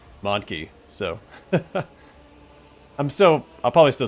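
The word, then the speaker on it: mon-keigh: I always pronounce it Monkai. I knew it was supposed to be a play on monkey. But it looks like it is pronounced Monkey, so...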